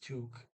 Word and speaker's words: tok: in it uh now story 12 t-o-k is two but in story 11 kom is calm short